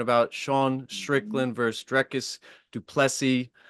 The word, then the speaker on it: du Plessis: Sean Strickland versus Dricus du Plessis. The S is silent.